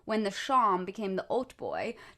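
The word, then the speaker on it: hautboy: the sham became the old boy this is spelled h-a-u-t-b-o-y like halt boy like i want a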